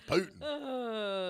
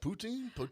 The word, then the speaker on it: poutine: think i'll have some putin how do you say that poutine i've seen well p-u-t-i-n-e poutine some odd names on